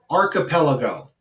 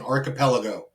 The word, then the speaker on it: archipelago: right this one's always fun and it is pronounced archipelago okay inevitably students will constantly just call this yo mister it's the archipelago um it's not an archipelago good try it's an archipelago that is what it's called inevitably i will